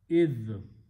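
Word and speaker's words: إذ: Alif with a dhal idh.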